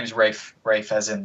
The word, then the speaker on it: Ralph: fines F fines yeah yeah his name is Rafe Rafe as in like pronounced weird yeah yeah finds he looks like